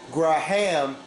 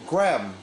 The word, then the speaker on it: Graham: name Graham Graham it's it's silent H not you don't say graaah' ham you just say Graham Graham that's that's why